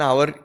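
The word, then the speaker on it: hour: Spelling पे depend नहीं होता, वो कैसे तुम प्रोनाउंस कर रहे हो उस पर डिपेंड करता है। ठीक, तो अगर एन आवर इसलिए लगाया यहाँ पे क्योंकि ओ से शुरू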